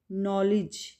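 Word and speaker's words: knowledge: नॉलेज, नो, के silent है, के की साउंड नहीं होगी, और लिज, डी की साउंड नहीं होगी यहाँ पे, ठीक है, डी साइलेंट होगा। इसमें के और डी साइलेंट हैं, ठीक है, नॉलेज।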